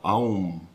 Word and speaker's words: AUM: de los cuatro elementos el sonido se inicia en la garganta con la A a luego llena la boca con la u Au y se cierra con la m a estos tres elementos